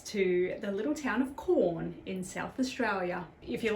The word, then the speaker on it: Quorn: this takes us to the little town of corn in South Australia if you're like me you